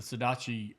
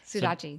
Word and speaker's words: Sudachi: The Sodachi, is that how you say it? Sudachi.